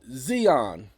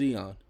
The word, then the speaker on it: Eon: And he said, Xeon. How do you spell that? I said, what? How do you spell it? Sir, my name is Eon.